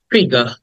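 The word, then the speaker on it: figure: ward number 21 ইজ ফিগা ফিগার ফিগা এটাকে আর টাকে ব্রিটিশরা উচ্চারণ করে না তাই আমি উচ্চারণ করছি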